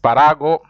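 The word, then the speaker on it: espárrago: touch it here esparago El esparago no you have to say because of the acent Parago Parago is um uh you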